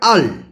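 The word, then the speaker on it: earl: এটার উচ্চারণ হবে আল।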